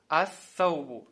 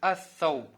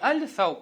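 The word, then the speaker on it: الثوب: Саубун, ас-саубу. То есть с алиф-лям будет ас-сауб. Не аль-сауб, а ас-сауб.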